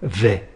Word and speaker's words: vais: On se rappelle de ce qu'on vient de voir et on a je vais là. Attention, le s émuet à la fin.